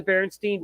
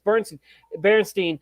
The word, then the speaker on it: Berenstain: Everybody can say Stain, but when you see AEI in, you don't know if it's Stein or Steen or what.